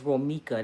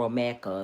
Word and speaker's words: Romika: And it's not, they said her name wrong. It's Romika. They call her Romeica or something.